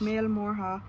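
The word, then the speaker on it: Mael Mórdha: And if you are Irish and watching this and your Irish is a different dialect from mine, don't tell me I'm butchering the pronunciation, because that's how you say it in my dialect.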